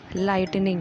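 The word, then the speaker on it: lightning: मतलब होता है तूफान आ है नेक्स्ट इस लाइटनिंग इन कि एवं आई जी एच टी ई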